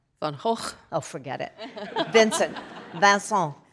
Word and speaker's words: Van Gogh: Also, he thinks it's too hard to pronounce. And it is. How do you say it? Van Hawk.